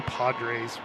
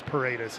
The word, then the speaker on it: Paredes: I always want to say Padres, so I say Padres, but then I know it's Paredes.